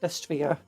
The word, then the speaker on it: Destrier: Destrier.